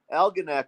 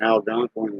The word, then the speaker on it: Algonac: Baltimore Algonac or uh Algonac okay Algonac is over there yeah that's where they at I was pronouncing it wrong Algonquin or something but there's a there's